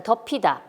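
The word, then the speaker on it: 덮이다: 더피 가만 볼게요 자 더 피다 연음 에서 pu 받침이 모음 인 이에 연음 되어서 더 피다가 되는데 더 피다 와 똑같이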